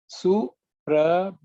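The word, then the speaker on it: सुप्रभातम्: Last letter is Suprabhatam. Okay, Tava Suprabhatam. The one which we generally may tend to ignore is again the letter Bha, which is the aspirated Bha. Okay, just pay attention to that.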